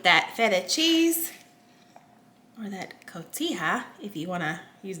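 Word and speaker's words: cotija: And same thing with that feta cheese or that kotia if you want to use that y'all. I learned how to pronounce that.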